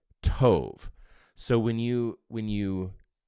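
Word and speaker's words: טוב: tov and Tov now you could just phonetically say t-o-v t as in Tom o v is in in Valerie t-o-v Tove so when you when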